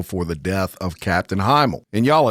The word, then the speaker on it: Himl: These being responsible for the death of Captain Himl. And y'all, it's spelled H I M L, but it could be email, which is a Cajun last name here, but that's typically spelled H Y- L.